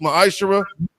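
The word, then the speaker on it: מעשר: Means 10th in the Hebrew, it's pronounced ma'ashara.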